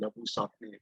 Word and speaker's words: Labuschagne: Sakne is what he's called in South Africa because that's an Afrikaans Yeah, surname, Labu Sakne.